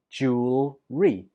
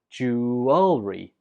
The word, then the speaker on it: jewelry: it in different ways I pronounce this word with just two syllables jewelry jewelry but other people pronounce it with three syllables jewelry jewelry both are fine so you choose whichever one's easiest for you but it's important to